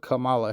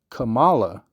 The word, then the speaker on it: Kamala: Because they done snuck him out of the motherfucking situation, and they done put Kamala Harris in there.